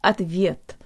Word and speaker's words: ответ: to pronounce the word at the viet or answer the Oh sounds like a schwa let's start with a